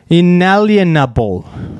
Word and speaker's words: Inalienable: Inalienable. Sounds like Inalienable. The aliens are coming.